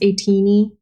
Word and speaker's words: ATEEZ: But so like the idea of being called tiny, even though it's pronounced ATEEZ, like teeny tiny, I don't like it.